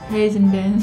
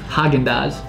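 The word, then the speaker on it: Häagen-Dazs: Hazen-dance. No, man. You're saying z. There's no z in the first word.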